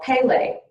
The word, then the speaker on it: Pele: honesty within yourself and I did pronounce it wrong it is called Pele she is the Hawaiian